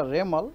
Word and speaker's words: Remal: और साइक्लोन जब बनेगा, साइक्लोन बनने का बाद उनको नाम होगा रेमल, प्रोनाउंसिएशन होगा रेमल, उसका स्पेलिंग है REMAL, रेमल।